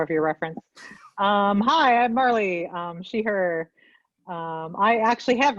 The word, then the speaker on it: Marley: Up next, can I ask actually, how do you pronounce the name? Marley, or is it Marley? Apologies. Marley, cool. Would you kind of Marley, introduce yourself? like Bob Marley.